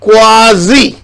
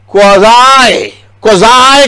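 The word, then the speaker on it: quasi: ये जितने भी तज्जिया निगार माहिरीन नजर आते, अल्लाह की कसम, ये हैं अमेरिकन एक्सेंट में उस वर्ड को कहते हैं क्वाजी, उसका प्रोनाउंसिएशन, और क्वाजाई कहते हैं अमेरिकन, और क्वाजी कहते हैं, ये देखें क्वाजी, बज़ाहिर,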